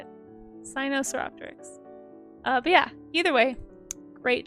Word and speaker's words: Sinosauropteryx: Sinosauropteryx. Yes, that's how you say it. Sinosauropteryx.